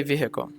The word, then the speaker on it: vehicle: I say vehicle. Or vehicle, okay. Yeah. But sometimes I say it fast and the H is not very obvious.